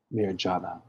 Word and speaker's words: marijuana: Marijuana. The J is silent.